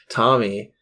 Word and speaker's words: Thom: he's Tom Matthews and that's Tom with a silent h so th th th Matthews th Matthew I thought it was th but are you sure it's th I think it's still pronounced Tom yeah okay Thomas thas